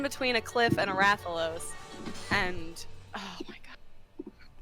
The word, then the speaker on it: Rathalos: i not climbing this game sucks bye it's pronounced rathalos okay got pinned between a cliff and a rathalos and oh my god it's all mad meanwhile